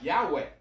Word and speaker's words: Yahweh: pronounce it with because actually why HW I'm pronounced some more like Yahweh amen hey people writing and saying why do